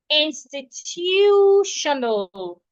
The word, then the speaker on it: institutional: Institutional. We are stressing the T.